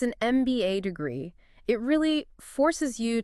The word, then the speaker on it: MBA: But how do you pronounce the letter M when you say the acronym? You say M. M starts with an E sound, vowel sound. Precisely. So it's an MBA degree.